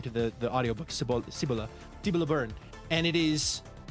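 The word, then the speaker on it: Cibola: Uh, Cibila burn is the name uh a pronunciation according to the the audio book sibila sibila burn and it is uh like they're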